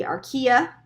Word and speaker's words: archaea: know those there's the bacterial domain there's the archaea it's how you say it archaea domain and